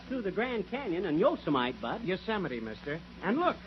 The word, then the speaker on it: Yosemite: It isn't Yosemite, it's Yosemite.